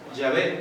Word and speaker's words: Yahvé: Y que se lee Yahvé, pero en hebreo se escribe así.